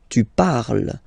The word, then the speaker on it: parles: Phonetically, tu parles. So you've got the two first forms, you pronounce them the same way. You write them differently, of course, because you've got here, and then you've got and s, okay? But then phonetically, they are the same.